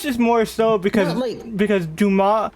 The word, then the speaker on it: Dumas: Like it's Duma, not Dumas. You don't pronounce the S.